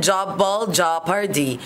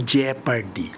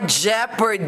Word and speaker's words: jeopardy: Ang talagang pronounce po diyan ay double jepardy. Ah jeopardy. Ah silent off po yan.